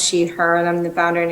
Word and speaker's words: Tylek: excited to be here my name is Tyler uh pronounced sheet her and I'm the founder and executive director of